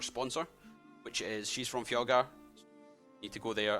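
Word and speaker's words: Fjallgar: Fjalgar. Fjalgar. How do you spell that?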